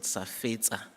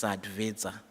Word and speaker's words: SADVETSA: Let me also take the opportunity to greet the president of the most mispronounced organization, SADVETSA. Everyone calls it SAFETSA, but in actual fact, it's SADVETSA, Ms.